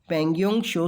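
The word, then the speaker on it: Pangong Tso: question इस about D पेंगुइन शो से related शो मतलब यहां पर जो टी है वह साइलेंट है और इसका मतलब होता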